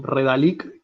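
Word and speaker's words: Redalyc: Después una que se llama Redalic con Y. Redalic. R-E-D-A. Está compartida la pantalla, ¿no? Está presentando. Redalic.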